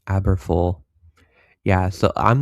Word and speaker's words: Aberfoyle: Now near Farnham, tracking into north of Aberfoley, Corwine, Moffat. I see Atlanta's correcting my pronunciation, Aberfoyle.